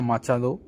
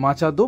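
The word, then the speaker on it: Machado: ভেনিজুয়েল মাচাদো বা মাচা হো আপনারা যেভাবে উচ্চারণ করবেন লাস্টে ডি ও রয়েছে মাচাদো বা মাচারো।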